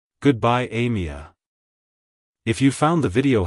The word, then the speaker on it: Amia: cultures it's pronounced as Amia Amia Amia to pronounce it correctly emphasize the a sound at the beginning followed by a soft me and ending with a short sound like hello Amia goodbye Amia if you found the